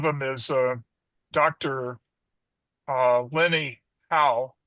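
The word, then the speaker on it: Lene Hau: uh Lenny How. It's spelled L E N E H A U.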